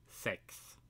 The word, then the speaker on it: sex: like that because well 6 which in Swedish is sex that's how we pronounce it much like the Germans